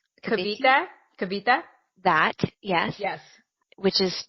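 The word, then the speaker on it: Cavite: in I don't know how to say this Kaviti kabita kabita that yes yes which is my first stop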